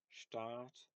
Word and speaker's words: Staat: So here we have Stadt versus Staat. So um, here is an example of something where if you don't distinguish between short and long vowels, it might just sound like they're pronounced the same, like oh Stadt, Stadt.